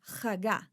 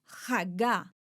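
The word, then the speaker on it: הגה: En hebreo es la palabra Hagá. Repitan conmigo, Hagá. Esta es una de las palabras que se pronuncia con la garganta. Una vez más, Hagá.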